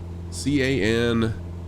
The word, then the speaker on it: Cananea: I'm not sure if I'm pronouncing this right, but it's Cananea, C-A-N-A-N-E-A.